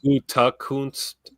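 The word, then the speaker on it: Gutekunst: But to me, it's Gundekunst. Yeah, Gundekunst. Yeah. You know, some people say Gutakunst, but where I'm from, you always potato. You always subtract a syllable where I'm from. You just blend it in together.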